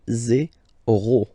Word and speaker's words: zéro: 0, 0, okay, so remember you get this z and then e accent aigu, zéro, okay?